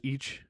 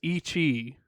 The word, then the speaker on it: ichi: Like, Like most of the time I would say most Japanese people don't actually say the end of one. Usually it's just each, and it's like yes, it's ichi, but like they know what they're saying, and most of the well, time they don't like fully finish it.